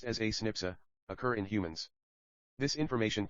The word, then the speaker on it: SNP: based DNA differences snps a single nucleotide polymorphism pronounced as a snipa occur in humans this information promises to revolutionize